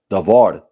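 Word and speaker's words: דבר: Davard. Davard. Davard. Strongs. H 1697. Davard. Davard. And don't forget to roll your Rs too. Davar.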